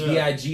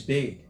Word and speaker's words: B.I.G.: Some people, like only the people that fuck with you gonna pronounce it right. And if you lame, you might not even understand the name. Notorious B.I.G. How many people said Notorious Big?